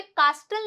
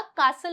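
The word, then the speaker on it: castle: नहीं बोल रहा है तो यहां पे कास्टल नहीं होता कासल होता है यहां पे ब्रिस्टल नहीं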